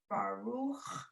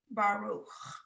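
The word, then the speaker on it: ברוך: So the way, how do you say the word Baruch. bless? Baruch. Exactly. say So you Baruch, put the yeah. emphasis on the second part, right?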